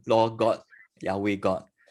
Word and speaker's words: Yahweh: they use it they use adonai instead of yahweh all right so um in your notes you